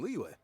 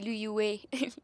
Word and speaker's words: Liyue: En anglais, c'est Liyue. Liyue. En français, c'est Liyue. Non, moi, je prononce juste les lettres qui sont là. Il est marqué L-I-Y-U-E. Comme Liyue. Liyue.